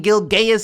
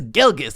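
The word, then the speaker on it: Gilgeous: been Shai gilgas Alexander yes I pronounced his name right I'm not saying gilgas it's gilgas all right you got it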